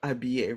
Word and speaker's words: habiller: Mute H, like the verb habiller, right? S'habiller. The H, we don't pronounce the H.